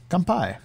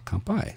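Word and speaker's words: 乾杯: in Japan compai compai it literally means empty cup but we do not have to empty our cups not right away at least we can be sake sippers um but that is how you say cheers comp by so let's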